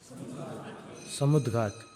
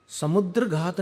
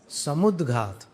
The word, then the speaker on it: समुद्घात: कौन से समुद्घात समुद्रघात नहीं बोल रहा हूं। समुदघात समुदघात का अर्थ क्या होता है?